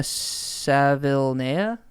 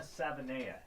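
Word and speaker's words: Savaiinaea: Sort of the same deal with Jonah Savilnea. Is that how you pronounce his name? I'll take this one here. Jonah Savinea, yeah. Oh, wait. Yeah, there's no L. I think it's Savinea.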